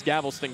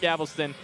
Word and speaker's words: Galveston: I always thought it was Galveston growing up. It's not Galveston, Galveston. I got to figure that one out.